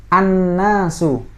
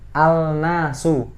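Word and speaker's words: النَّاسُ: Alif Alif lam maka cara bacanya gimana adalah annasu bukan Al nasut api and an nah seperti itu ya Ini berikan contoh dari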